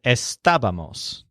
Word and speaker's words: estábamos: say estaba MOS safe now note that all of the words that we just learned have the main stress on the syllable stabbed estaba esta bus Esteban and estábamos now although it might